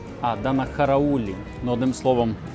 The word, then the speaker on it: Данахараулі: точки зору сміливо, тому що воно навіть не читається. Нцване і Данахавеллі. Данахараулі.